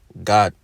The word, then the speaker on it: Gad: And it's pronounced God.